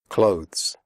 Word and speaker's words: clothes: Clothes. The final sound is a the followed by an s. Clothes. If this is difficult for you, just pronounce it like close, as in close the door.